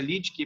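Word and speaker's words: Lüdke: Daniel Lidke, ele se pronuncia Lidke, mas é Ludke, tá?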